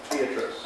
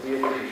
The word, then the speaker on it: Beatrice: more about the figure of Beatrice, or Beatrice, if you want to have a stricter Italian pronunciation.